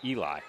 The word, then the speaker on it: Eli: to give Anthony the pronunciation guide because Julia's name is on there, and it is Eli. Checking in for Bentley, Ellie.